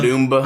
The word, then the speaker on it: Dumba: How do you pronounce Dumba? Dumba.